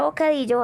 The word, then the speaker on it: bocadillo: El acento va en la penúltima sílaba, en la di.